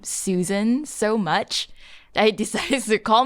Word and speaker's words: Su San: Honestly, it's become such a great conversation starter for me when I talk to other people, because it's pronounced as Susan, as how one normally would say Susan.